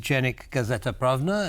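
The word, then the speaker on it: Dziennik Gazeta Prawna: She's a journalist with Dziennik, Gazeta, Prawna, and I hope I'm pronouncing that correctly.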